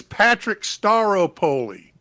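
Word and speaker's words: Patrick Staropoli: uh talking about everything no you got it wrong it's Patrick staro poly I can actually pronounce someone's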